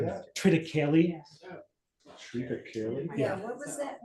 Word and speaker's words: triticale: a 8-year-old bourbon, a 10-year-old bourbon, and a triticale whiskey. He basically gave us the weird stuff, which was nice. The mash bill in the Days Defile has triticale in it. Does anyone know what triticale is?